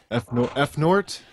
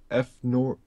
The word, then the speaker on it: Fnord: F Nort, is that what it was? F Nort? I didn't. Oh, F Nord. F Nord Y2K. Thank you, buddy. It's pronounced Fnord. Fnord.